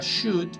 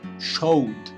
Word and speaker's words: should: Entonces me ocurre Ahorita, así sacándome lo primero que se me viene a la cabeza, la palabra should, muchos alumnos terminan pronunciándola como showed, porque eso es lo que leen, showed.